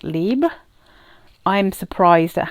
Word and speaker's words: Libre: Now Destinee from Rive is a dupe of Libre, or I imagine you would call it Libre if you're going to say it properly, by is it Yves Saint Laurent?